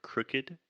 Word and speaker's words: crooked: I feel like I should just jump in really quick to talk about the word crooked. Crooked. First, this is what we call the other U sound. The vowel is crooked.